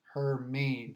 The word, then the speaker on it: Hermine: to point out that the pronunciation of this name uh from the National Hurricane Center is her mean so uh I personally thought the H was silid that it was air me so I'm glad that